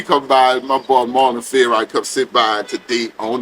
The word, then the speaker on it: Favorite: Favorite.